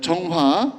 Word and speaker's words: 정화: 정화. 예. 정화입니다. 여기 정화라고 있는데 발음 이상 그렇고 우리는 정화라고 읽고 있습니다.이 정화의 대선단 한번 볼까요?